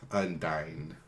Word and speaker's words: Undyne: Kind of like the word undying, but without the G at the end. Undyne.